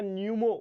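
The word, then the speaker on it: pneumo: form है human Meta न्यूमो virus करके कुछ है है ना पी भी आता है बीच में तो व पी जो है वो साइलेंट है पूरी अगर स्पेलिंग देखा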